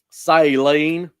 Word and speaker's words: Saline: By the time that you get this in Grand Saline or Saline, I don't know how you pronounce that. How do you say that, Randy? Do you know? Saline.